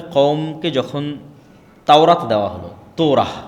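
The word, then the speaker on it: תורה: মুসা আলাইহিস সালাতু ওয়াস সালামের কওমকে যখন তাওরাত দেওয়া হলো, তোরাহ বলে ইহুদিরা, উচ্চারণ করে যে তোরাহ, যখন তাওরাত দেওয়া হলো,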